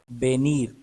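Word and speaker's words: venir: आवाज ये की आवाज वी की हमेशा बी की आवाज आती है मतलब वी वा ये स्पेनिश में नहीं है स्पेनिश में हमेशा बी की आवाज देता है वी इस तरह से बेनीर अना बेर देखना वाई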